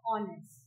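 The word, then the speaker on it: honest: Okay, जैसे ऑनेस्ट, अब हमारे पास एक वर्ड है ऑनेस्ट, ठीक है। अब ऑनेस्ट में आपको साउंड किसकी आ रही है? साउंड आ रही है ओ की, बिकॉज एच इज साइलेंट, तो हम इसके आगे क्या लिखेंगे?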